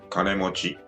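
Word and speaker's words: 金持ち: someone who has lot of money you say kanemochi kane mochi mochi kane mochi or you use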